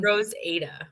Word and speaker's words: RoseAda: So, RoseAda. yes. That makes sense. That makes sense. Because usually when names are spelled like that, it would be long.